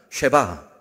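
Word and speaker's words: שבע: 쉐바. 네, 여러분 발음이 아주 좋습니다.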